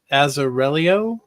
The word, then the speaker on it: Azzarello: I mean, the art, Ed Rizzo's art, and Brian Azzarello.